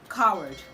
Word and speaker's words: coward: But the right to pronounce this word is coward, coward, coward. Okay, the W in that word is silent, so it's just coward, coward, coward, coward.